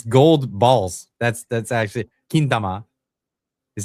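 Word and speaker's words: 金玉: That's actually kintama is how they say it.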